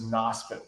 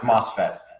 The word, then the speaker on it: MOSFET: There have been a lot of questions about this NOSFET company. This is an interesting question. Pronounced MOSFET.